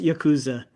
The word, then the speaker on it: Yakuza: Yeah, although Probably- it's pronounced Yakuza. You got There you go. Oh yeah, fix it. You know, make sure we get it right. Or if you're from Mississippi, it's Yakuza.